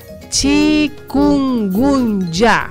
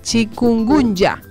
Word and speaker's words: chikungunya: Se llama chikungunya, se escribe con K, chikungunya.